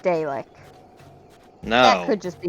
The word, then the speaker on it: Dalek: Though I thought it was pronounced Dalek.